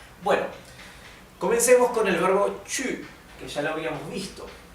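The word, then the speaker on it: 去: no se tocan bueno Comencemos con el verbo chu que ya lo habíamos visto Sí ya lo habíamos se lo había enseñado antes el verbo chu es ir si recuerdan la primer clase de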